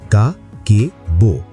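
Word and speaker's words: 家計簿: উচ্চারণ করো কা কে বো।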